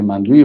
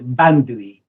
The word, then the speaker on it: بندویی: آقای مهندس مندوی عضو رهبری حزب مردم بلوچستان. امیدوار هستم که بحث خوبه و بحث تلفظ فامیل من با ب شروع میشه. بندوی.